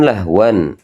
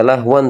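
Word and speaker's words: لهوا: Jadi kemudian tanwin yang ini kan lahwan. Ini tidak dibaca lahwan teman-teman ya, tapi nantinya dibaca jadi fathah saja lahwa.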